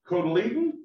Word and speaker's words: cotyledon: it two different ways those first leaves are called the cotyledon or coliado depending i find out that's kind of regional although i think the